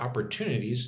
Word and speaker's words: opportunities: Put put the emphasis on opportunities.